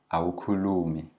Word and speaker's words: awukhulumi: It's always the second last syllable that's lengthened. And then you don't speak awukhulumi.